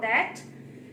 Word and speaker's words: the: आई यूज to think about that कि कभी हम इसे बोलते हैं द और कभी हम इसे बोलते हैं दी.